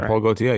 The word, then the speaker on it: Jean-Paul Gaultier: Jean-Paul Gaultier, yes.